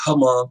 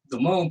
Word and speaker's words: Hmong: And I try to tell Black people all the time, it ain't Hmong, it's Hmong, the H is silent.